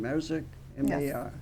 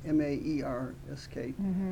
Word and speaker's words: Maersk: Yep, that's their major, I never can pronounce their shipping line, Maersk, M-A-E-R-S-K, Maersk.